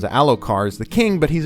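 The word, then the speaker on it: Elhokar: So now his very weaker son and not nearly as powerful or politically savvy son, Alo Alar, Alocar, uh, that's how the audio book pronounces. Alokar is the king, but he's a very weak king.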